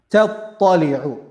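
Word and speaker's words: تَطَّلِعُ: The word tattali'u, you have to pay extra attention here, because we have ta then ta together. Ta and ta, their pronunciation, their makhraj is same. The difference is one is heavy, one is light. Ta, ta, ta, ta, right? Ta, ta. So we have to be careful. We have to make sure that ta, the first one, we're pronouncing it in a light manner.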